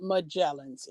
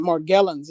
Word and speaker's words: Morgellons: misspoke let me retract it's not magellan's it's more get morgellons it's the disease you